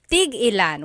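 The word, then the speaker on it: tig-ilan: Tigilan is a homonym meaning it can have different translations depending on how it's pronounced. So tigilan when there's a hyphen in it you have to have that glottle stop that means how many of each when there's no hyphen it's just one word that means to stop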